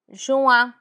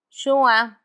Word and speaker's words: juin: June, juin, juin. It's a bit nasal.